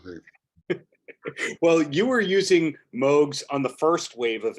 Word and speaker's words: Moog: Oh, by the way, do you say it a Moog or do you say it as Moog, you personally? I think that the correct pronunciation is Moog, and I've heard that from the horse's mouth, so I'm pretty sure Okay.